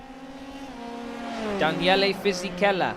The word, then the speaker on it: Daniele Fisichella: Daniele Fisichella.